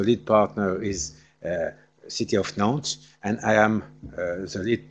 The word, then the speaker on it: Nantes: coordinator, Jean-Jacques Derrien from Nantes, without S at the end. You know, in France we like to have letters which doesn't have a special role, so you don't pronounce.